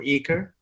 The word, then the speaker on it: ECRE: ensemble of coffee research and education acronym for eaker uh you know because i love acronyms uh